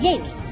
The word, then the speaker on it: Jaime: Este DJ Jaime Lanister, el diz que se pronuncia Jaamie, como si fuese ecuatoriano o algo.